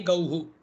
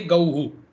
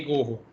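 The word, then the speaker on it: गौः: He gauhu is the form. When visarga is there after aukara, then it should be pronounced like hu. So it is he gauhu. It's not he gohu.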